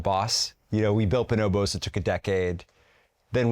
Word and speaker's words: Bonobos: Is that how you pronounce it? Bonobos?